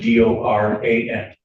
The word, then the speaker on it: Doran: Spelling on the last name is D O R A N and it's pronounced Doran.